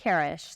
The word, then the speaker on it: Karesh: Karesh, am I pronouncing that? Karesh, thank you.